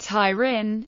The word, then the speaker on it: Turin: Torin pedm Mones Torin pronounced tyin Lumbard turri Latin austor norum is a city